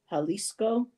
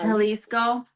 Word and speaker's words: Jalisco: pronounce that right so I don't think you pronounce a j like an American J so it be halisco halisco um let's see and Jus